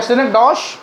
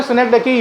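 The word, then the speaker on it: synecdoche: सिनेकडैकी या सिनेकडॉश या सिनेकडॉच? CH से चा भी बनता है, का भी बनता है। इसका सही प्रोनाउंसिएशन है सिनेकडैकी।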